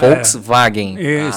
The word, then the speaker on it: Volkswagen: Tem, mas aí ele usa o, o V duplo. Ah. É. Que é o Wagen ali, por isso Volkswagen.